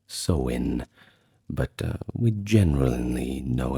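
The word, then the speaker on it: Samhain: Now finally the year would come full circle to sine which in Irish is pronounced soen but uh we generally know it as sain at least that's how we pronounce in English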